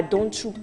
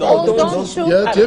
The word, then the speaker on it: Odonchou: La fête des ignames, par exemple, c'était à Donchou. C'est comme ça. Non, c'est Odonchou. Tu ne peux pas mélanger ma fête ici. On dit Odonchou.